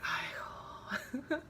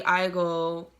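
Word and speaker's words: 아이고: or something like that, you could be like Aigo. And if I were to spell it, it'd be A-I-G-O-O.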